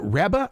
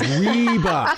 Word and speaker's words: Reba: said who is it rebba rebba is that how you say it and he goes reeba so I I've been